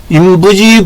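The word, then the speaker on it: 人不知: 인부지 불온이면 불력 군자화. 아니불자, 여기도 아니불자인데 요 부는 부로 있고 여기는 불로 있습니다. 왜냐면 그 다음에 한글로 지읒자나 디귿자가 나오게 되면은 부로 발음을 합니다.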